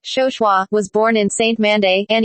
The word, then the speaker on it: Chauchoin: Early years Émilie "Lily" Chauchoin (pronounced “show-shwa”) was born in Saint-Mandé